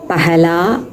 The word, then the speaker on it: पहला: பெஹலா பெஹலா பியார் ஹே, பெஹலி பெஹலி பார் ஹே அப்படின்னு ஒரு பாட்டு இருக்கும். அதில் வந்து பஹலா பஹலான்லாம் அவங்க பாடலை, பெஹலா பெஹலான்னு பாடியிருப்பாங்க. அதை நீங்கள் கவனிச்சிங்கன்னா தெரியும்.